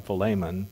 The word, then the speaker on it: Philemon: to philemon or philip there are a lot of people pronounce that many different ways i think of it filet mignon so i call him philemon but i don't profess to be a greek scholar those were very specific